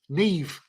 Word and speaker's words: Maeve: in Ireland Neve y'all look how that's spelled yeah m-a-e-v-e Neve oh Neve n-a-i-m-h Neve